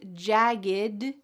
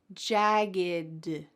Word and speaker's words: jagged: And the second word is jagged. Jagged. There's no puff of air.